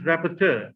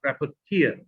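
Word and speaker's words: rapporteur: and by the way note the pronunciation is pronounced rapture and not rapper tear now a repeter if you look up the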